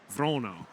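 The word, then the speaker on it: Wranå: and I'll probably still bungle this but it's vono vono okay so it's not quite an o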